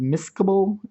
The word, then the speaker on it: miscible: the solvent there's also two other vocabulary words that go with um saw with solutions miscible or immiscible sometimes they're pronounced miscable and inmiscible uh they're just fancy